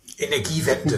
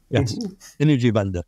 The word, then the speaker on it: Energiewende: I won't pronounce it right, but energy bomb, the energy policies of Germany. Energiewende. And the, yes. Energiewende.